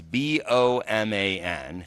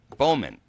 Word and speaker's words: Boman: It's B-O-M-A-N. How do you say that name? Boman. Bowman. So it's not a B-O-W. It's a B-O-M-A-N, Boman.